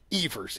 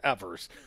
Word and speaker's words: Evers: the state of Wisconsin she mispronounced the boss's name Evers Evers she corrected it fairly quickly though yes but that the communications people that were in my periphery they were mortified I mean I bet they'd been coaching her all morning like eavers eavers eavers first first words out of her mouth Thank You governor-elect Evers let's plate for the